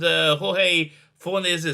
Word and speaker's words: Jorge Fornes: So this is a review of Tom King and Jorge Fornes, that's how you pronounce his name, Rorschach.